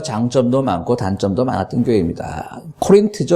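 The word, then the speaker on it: Corinth: 코린트죠. 그러니까 영어 발음은 코린트인데요.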